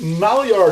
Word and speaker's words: Maillard: my art or malli artifact I've heard it pronounced both ways okay um this this Maillard effect it's um it happens about 310 degrees